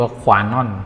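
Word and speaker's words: Kwanon: การ เนี่ย นะ ฮะ ยัง ใช้ ชื่อ ว่า ขวา น่อน k w a n o n ขวา นอล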